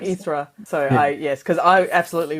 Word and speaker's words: Hydra: I'm assuming uh the island is not U pronounced Hydra which is how I would pronounce it no that's exactly what I probably something or something I researched that more like erra so yes cuz I absolutely would have I